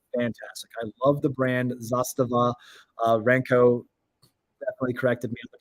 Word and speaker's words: Zastava: uh they are fantastic I love the brand Zastava uh renko definitely corrected the pronunciation of the name but zostage uh that